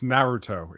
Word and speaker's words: Naruto: I don't even watch it and I know how to pronounce it. It's Naruto in case people were wondering.